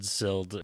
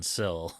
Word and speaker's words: Sild: And every time I read Sild, my brain just fills in Sill. So, apologies if we dropped the D at any point in the in the pronunciation of this.